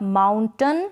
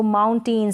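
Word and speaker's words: mountain: तो इसको प्रोनाउंस करेंगे आप माउंटेन, सर्टन, विलन, कर्टन और फाउंटेन। इस तरीके से आप अगर इसको माउंटेन, सर्टेन, विलेन, कर्टेन और फाउंटेन प्रोनाउंस करते हैं तो ये करेक्ट प्रोनाउंसिएशन नहीं होगा।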